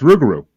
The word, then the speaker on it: Rougarou: I don't know how to pronounce that, but That's Rougarou. That's Rougarou Bar.